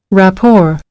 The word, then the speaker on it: rapport: R is here, rapport, but when it's pronounced, rapport, it doesn't pronounce T. Sorry, doesn't pronounce T. Yeah, so it's Yeah. it's because it's borrowed from French.